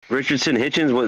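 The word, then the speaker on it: Richardson Hitchins: this guy Richard Hitchens Richardson Hitchens that's how you say his name right uh uh rickyson hitchinson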